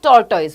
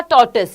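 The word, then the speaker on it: tortoise: इसे हम बोलते हैं टॉर्टोइज बोलते हैं, बट एक्चुअल प्रोनाउंसिएशन इसका टॉर्टिस है। क्या है, टॉर्टिस, आपने ढूंढ लेना, हाँ ऑल इन वेल, बिल्कुल टॉर्टिस है इसका क्या है, टॉर्टिस इसका एक्चुअल प्रोनाउंसिएशन है।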